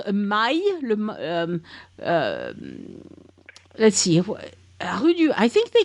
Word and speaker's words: maille: They also have this thing called a maille.